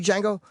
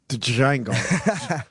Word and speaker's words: Django: Did you see Django? Not yet. There was. I like to call it the Django. Django. I like pronouncing the D.